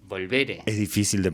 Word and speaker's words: Volveré: en mayo el EP Volveré. Volveré, con tilde en la primera E. Volveré.